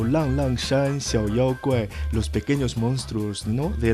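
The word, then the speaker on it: 浪浪山小妖怪: Sí, efectivamente, y en chino se pronuncia como Lang Lang Shan Xiao Yao Guai, los pequeños monstruos, ¿no?,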